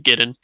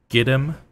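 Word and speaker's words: Gidim: So, I just wanted to make sure you were saying giddon. My pronunciation has been giddim. The spelling, proper spelling out of character is g i d i m.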